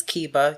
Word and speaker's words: Keba: it in class every wrong variation of my name said to my face multiple times and it's like you know it's Kiba you can just take